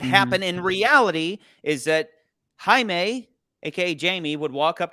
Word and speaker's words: Jaime: and she'd go oh um you're uh you're Jamie and he would go it's actually it's pronounced anime and she would go oh okay Jaime take a seat that's what would happen in